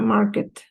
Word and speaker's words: market: A, in a restaurant, at a bakery, on a farm, in a market. In a market. Yeah. When you have K-E-T, the pronunciation is kit.